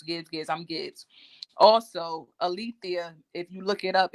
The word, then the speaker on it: Alethea: day and a lot of people they never pronounce my first name right is Alethea they say Alec they're out there they called